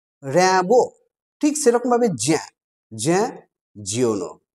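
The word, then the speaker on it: Jean Giono: নামটা হয়তো তোমরা উচ্চারণ করবে এরকম ভাবে, জেন জিওনো। আসলে উচ্চারণটা জেন নয়, উচ্চারণটা হবে জ্যাঁ।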